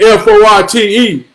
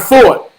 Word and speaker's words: Forte: your name for attain it's not fought it's forte so he say goddamn